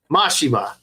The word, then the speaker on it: Mashima: I don't know how to pronounce names correctly, so who's M-A-S-H-I-M-A. Mashima.